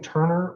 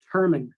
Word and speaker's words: Turman: The post that I saw that Is his last name Turner or Thurman? Turman.